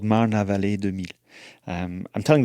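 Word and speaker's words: Marne-la-Vallée: How would someone like me pronounce what you just said? Marne la Vallée Marne la Vallée de Meaux.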